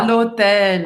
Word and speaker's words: l'hôtel: No hotel é À l'hôtel. à l'hôtel. Você vai pronunciar bem esse L no final. L'hôtel. Vamos lá, a primeira coisa